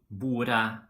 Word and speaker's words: bordet: of a noun, like for example in huset, bordet, vinduet. Okay, in these situations we do not pronounce the T.